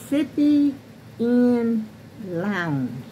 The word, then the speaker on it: Sippinn Lounge: And the name of her channel, the name of hers is Sippy in Lounge. Now let me spell that Sippy because I might have that wrong.